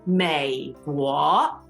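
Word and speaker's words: 美国: So the word for America, the United States, is 美国. 美国. Third tone, second tone.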